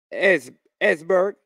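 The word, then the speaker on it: Esbjerg: He has moved to Esberg. E-S-B-J-E-R-B. Esberg. I think the J is silent in it.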